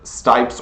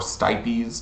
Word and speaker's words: stipes: This is the cardo, and this is the stipes or stipes, depending on how you say it.